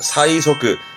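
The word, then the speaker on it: 催促: 재촉하는 의미지만 최자니까 음독으로는 사이 갈 거고, 촉자이지만 기본적으로는 족자니까 발음은 소끄예요. 족자의 기본 발음은 소끄입니다. 그래서 답은 4번이 재촉하다. 사이소끄, 사이소끄, 재촉이 되겠습니다.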